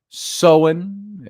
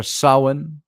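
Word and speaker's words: Samhain: the Celtic Festival of someone pronounced sohen like s-o-w-i-n sohen or Sawan s-a-w-a-n something like that and the Celts who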